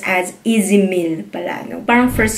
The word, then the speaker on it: Ez Mil: Honestly, before I thought Izmil yung pag-pronounce nito.